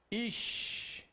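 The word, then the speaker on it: איש: Essa consoante com o ponto do lado direito representa o quê? Professor, representa o SH. Beleza. Qual é a pronúncia que você tem aí? Ish. Ish. Ok?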